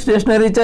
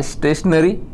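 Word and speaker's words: stationary: हा त्याचा अर्थ होतो मग त्याची स्पेलिंग काय एस टी ए टी आय ओ एन ए आर वाय स्टेशनरी उच्चार दोन्ही सेम आहेत पण या स्टेशनरी चा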